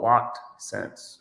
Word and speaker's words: Loc'd Scents: so do you say uh is it so pronounce the name of your channel for us uh it's called locked sense okay locked sense and when did you start